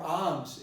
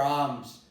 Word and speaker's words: alms: They would insist on pronouncing she begged for alms. She begged for alms. Okay, it's not she begged for alms. It is she begged for alms.